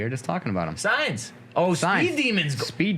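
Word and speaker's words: Sainz: Sans. Is it Sans? They said signs.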